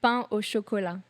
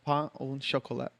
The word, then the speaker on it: pain au chocolat: Did I pronounce that right? No. Okay. It's pain au chocolat. Pain au chocolat.